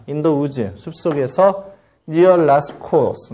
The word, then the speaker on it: Lascaux: in the woods, 숲속에서 near Lascaux, 라스코, 뭐 프랑스니까 라스코라고 발음하는 게 맞겠지?